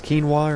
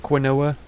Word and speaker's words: quinoa: know that this is what does it actually pronounce as quinoa or something like that not quinella like I pronounced it before I just do that